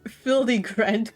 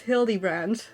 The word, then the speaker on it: Hildibrand: Since parting ways, I've searched every alley and dive bar in ever keep for signs of this fily grand character. It's pronounced hilly brand.